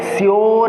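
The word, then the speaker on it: sure: अब नेक्स्ट चलते हैं, यहाँ पर देखिए यू का यूज हुआ है ना, यू का प्रयोग किया गया है, लेकिन हम लोग इसका प्रोनाउंसिएशन क्या करेंगे, यो करेंगे। प्रोनाउंसिएशन क्या करेंगे, यो। जैसे श्योर है, श्योर मीन्स होता है अवश्य।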